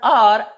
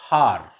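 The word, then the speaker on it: hour: vowel sound for example h o u r here the word r in this word are h is silent so it is pronounced as are not har honest not honest h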